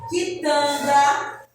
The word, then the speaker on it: quitanda: Na palavra também, quitanda, você só escuta o som do que e do U, do I. Não escuta o som do U, certo?